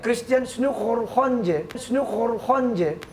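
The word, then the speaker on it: Christiaan Snouck Hurgronje: Oh, emang gitu bacanya? Iya, Christian Snook Horhonje.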